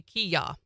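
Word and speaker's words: kiai: He says you don't say Hiya, you say Kiya. Kia is the way you pronounce that. It's just Americans in the early days didn't understand what they were saying and thought they were saying hiya because it sounds like yeah.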